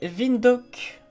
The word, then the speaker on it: Windhoek: C'est Windhoek. Windhoek, ça s'écrit.